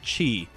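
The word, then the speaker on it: χ: Enix introduced Kingdom Hearts Chi this was a 2d browser game exclusive to Japan that was spelled with just an X but was pronounced by saying Chi and it had micro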